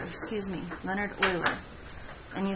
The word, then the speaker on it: Euler: long time ago and he's dead now Leonard uhler was his name boiler yes oiler excuse me leonhard euler and you spell his name like this and